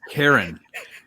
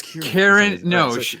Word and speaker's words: Karen: It's Karen. I always thought it was Kieran. No, it's not Kieran. It's specifically spelled Karen.